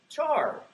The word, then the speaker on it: char: how you pronounce it who says Char like some of you who says car who doesn't pronounce CH R there's some who are left over so uh yeah I say Char that's just how I grew up um it's a car